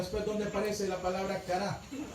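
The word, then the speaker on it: χαρά: ¿Saben que la palabra gozo en el griego se dice cara? Cara. C-A-R-A con acento.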